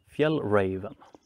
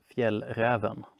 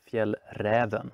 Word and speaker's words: Fjällräven: I hear people call it Fjällräven, but I'm from Sweden and I can tell you that you pronounce it Fjällräven or Fjällräven if you're from northern parts of Sweden.